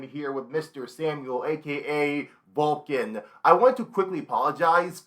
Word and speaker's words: VLCN: no saying your name I said vlcn like YMCA I I know was you pronounced it just vul like VC yeah yeah it's I